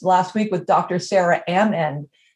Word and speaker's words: Amend: I always say Amend because she's like, think about it. is saying it. I'm at the end. So I'm Amend. And so every time I say her name, she like rolls her eyes. She's like, you don't have to stop in the middle of saying Amend.